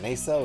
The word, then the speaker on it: nacelle: How do you pronounce that? Nacelle or nacelle?